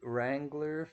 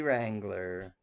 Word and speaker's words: Wrangler: coming your way lady Wrangler for lady Braven remember the W is silent lady Wrangler for lady Braven Merry